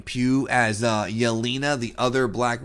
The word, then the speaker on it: Pugh: do like Florence Pugh I guess they say her name pew as Yelina the other